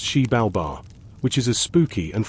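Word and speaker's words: Xibalba: The Maya believed these caves were entrances to the underworld called Zabalba, pronounced Sheib Balbar, which is as spooky and full of trials as it sounds.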